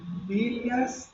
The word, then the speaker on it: villas: Vilas, cuidado com a pronúncia, Las villas de emergencia